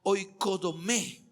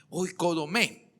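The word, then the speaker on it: οἰκοδομή: aparece en el Antiguo Testamento es la palabra hoy codomé así se pronuncia hoy codomé de hecho es en griego mismo es ao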